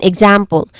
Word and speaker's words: example: Again, example. It starts with egg, which is the sound that the EX, the first syllable of example, makes.